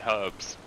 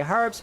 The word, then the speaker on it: herbs: Not pronouncing the H in herbs. H. Yeah. Yeah, we say banana, you say banana, we say potato, you say potato, you say herbs, we say herbs, because there's a fucking H in it.